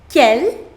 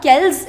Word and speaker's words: quel: Quel, quel, quel et quel. The pronunciation of all 4 of them is same. Quel, quel, quel et quel. D'accord? It is not quels, it is not quels.